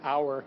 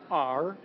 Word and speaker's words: R: At our house, at R as in Remington House, and if you overpronounce it like I tend to do, our, it's not, it's R.